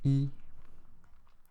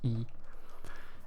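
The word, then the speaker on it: 一: one then you turn horizontally um so it's pronounced as e um just think of the tone uh just think about how it sounds because um Chinese has different you know Chinese different tones and this pronounce e and I'll go through the pronunciation once again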